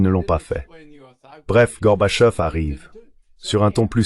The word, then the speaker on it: Gorbachev: Bush le vice-président disaient Ray ce type comment prononce-ton son nom ? Gorbachev. Je disais Gorbachev.